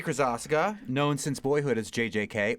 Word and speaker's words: Krosoczka: Krosoczka, known since boyhood as JJK, or by me as Hota Hotaka.